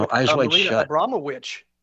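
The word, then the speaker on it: Abramović: Abramowitsch, and that's how she wants her name pronounced.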